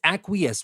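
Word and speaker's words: acquiesce: e c e Aces I know it is spelled in a way and pronounced in a different way but it is aqus what does it mean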